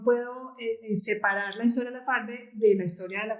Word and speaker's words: Labfarve: te cuento Pues que nosotros le decimos la farde como con el acento en la segunda pero está muy bien No te preocupes porque muchas personas lo conocen como la farden y además como que ese nombre le suena más familiar como si fera un